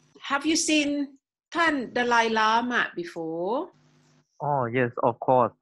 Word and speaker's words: Dalai Lama: Lama and Dalai Lama is everyone pronounced after me when you want to talk about the Dalai Lama just say like this Dalai Lama yeah so all the elk sounds so it is easy for Thai people okay to to